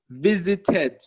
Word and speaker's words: visited: For example, visit become visited. Okay? Visited. This is the only situation that you are allowed to pronounce the E.